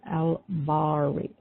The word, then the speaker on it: Bari: And the next attribute that we call on is al-Bari, and that is spelled B as in boy, A-R-I, and it's a short I, like a I. Al-Bari.